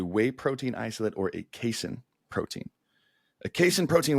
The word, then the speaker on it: casein: you agree yeah yeah I actually thought it was pronounced casein up until like a year and a half ago I realized it was casein and I've been saying it wrong yeah now the difference